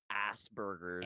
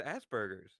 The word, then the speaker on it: Aspergers: God I hate the way Americans say as bers asers it's like Asperger syndrome like is is like easy to say like it's Asbergers what do you mean Aspergers